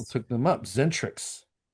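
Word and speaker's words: Xentrix: They're called Zentrics. I've heard the name, but I can't say I've ever listened to it. It's spelled as an X.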